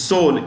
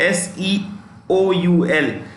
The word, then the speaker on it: Seoul: South Korea is Seoul, S-E-O-U-L. The E is silent in Seoul.